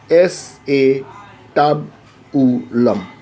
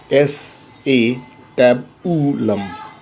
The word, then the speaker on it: acetabulum: regarding thee now again this is not acetabulum it is s a tab to love but it is difficult so I will pronounce a CW but in reality it is s a tab ooh lump now what is the